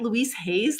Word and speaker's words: Louise Hay: Like, someone remembered Louise Hayes as, I'm saying her name wrong. It's Louise Hay of Hay House.